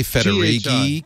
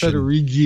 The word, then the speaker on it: Federighi: I say Federighi because it's G-H. Federighi. Like spaghetti.